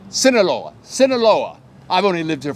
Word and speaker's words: Sinaloa: made him tourism Ambassador for the state of sonola how do you say that Sinaloa Sinaloa Sinaloa I've only lived here for three or